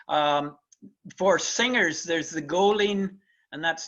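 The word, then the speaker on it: Goilín: for singers there's the goleen and that's not an advertisement for a serial this is how g o i l uh i n is pronounced in in the irish language uh the golden sessions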